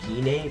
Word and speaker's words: Gine: Now, this is the first time we see Gine in animated form, and the way, I'm gonna pronounce it Gine, because that's the way it was pronounced in the English dub.